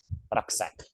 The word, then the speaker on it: Rucksack: Rucksack. Like pronounced as Rucksack.